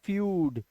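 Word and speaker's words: feud: अब ये ईयू ईयू मत पढ़ लेना, इसको यू पढ़ो सीधा डायरेक्ट। जैसे देखो यहाँ पे ईयू का उच्चारण क्या है, फ्यूड, फ्यूड।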